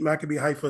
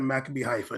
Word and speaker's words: Maccabi Haifa: PSG beat Maccabi Haifa 7-2.